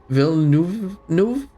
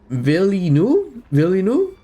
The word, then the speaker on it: Villeneuve: Denis Villeneuve.